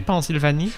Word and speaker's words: Pennsylvanie: En France, a word that ends with IA becomes IE. So Philadelphie, Pennsylvanie.